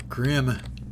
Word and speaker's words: Grimm: Grim's not the smartest Grimm it rhymes with dim take a knee real